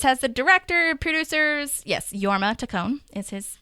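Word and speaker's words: Jorma: um but this has the director producers yes yorma tone is his pronunciation it's okay and then um yeah portolo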